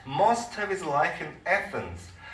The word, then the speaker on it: Athens: He spent most of his life in Athens. 자, 이 에피큐러스는 대부분의 자기의 생애를 아테네에서 보냈다. 이렇게 되죠. 아테네도 이게 영어식으로 발음하면 우리하고는 상당히 다릅니다. Athens 이렇게.